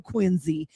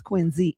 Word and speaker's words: Quincy: don't do Quincy. And you didn't even pronounce it correctly, by the way, Mo. It's Quincy. Oh shit.